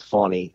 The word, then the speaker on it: Fani: name all this time not Fanny it's funny Willis she ident she indicted